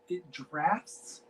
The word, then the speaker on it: Draughts: I'm gonna say Drafts? Draughts. Yeah, drafts. It's like a beer, like draft.